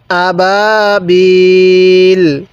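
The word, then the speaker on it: أبابيل: না সহি শুদ্ধ কিরন আবাবিল আবাবিল এই হামজা মধ্যে টান দিব না বা এর মধ্যে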